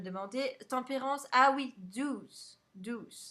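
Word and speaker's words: Dews: Douce, ça s'écrit Douce. J'arrivais pas à le dire Douce. C'est D-E-W-S.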